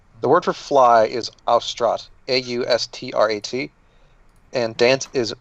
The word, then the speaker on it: Austrat: How do you spell that? It is for flying. The word for fly is Austrat, A-U-S-T-R-A-T, and dance is Vaeri, V-A-E-R-I.